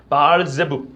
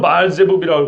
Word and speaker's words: 바알세불: 와, 바알세불. 히브리어는 바알세불이라고 하고 이걸 헬라식 발음으로 바알세불이라고 그럽니다.